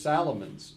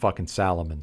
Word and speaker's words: Salomon: and I know it's people say Solomon but it's spelled Salomon so I call them Salomon but Solomon uh that's